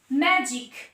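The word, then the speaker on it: magic: ম্যাজিক, ম্যাজিক, জি আর আই, ম্যাজিক, জ, কারণ জি আছে তারপরে আই আছে।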